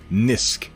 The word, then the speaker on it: Gnisk: If you got a preferred pronunciation, nisk. Okay. I'll just go with nisk. We'll leave off the G is silent.